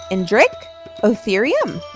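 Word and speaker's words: Indricotherium: You say it like this, Indrich Otherum.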